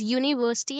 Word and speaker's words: university: So we'll be using a because it starts with uni it the pronunciation is university and uniform and the sound is starting from uh y basically.